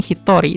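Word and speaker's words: 一人: Oke, kalau yang ini Hitori itu kasih bintang karena ini bacanya e beda sendiri. Hitor Hitori satu orang. dibaca ini kan agak beda. Ini kan harusnya Nin atau jin tapi di sini pakainya Tori.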